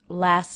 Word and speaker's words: last: Notice I didn't say the T in the word last. Normally, as being part of an ending consonant cluster, that would be pronounced. But often when the next sound is another consonant, the ending T in a consonant cluster will be dropped.